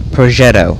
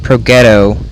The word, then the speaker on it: Progetto: And next we have the Progetto. I called it Progetto in the first video I did with the P44, and some of my clanmates are like, you idiot, it's Progetto, not Progetto, so sorry I don't